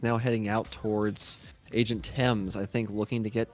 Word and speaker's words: Thames: out how pleased I am at your correct pronunciation of Thames. Thank you. You mean it would bother you if I were calling him Thames?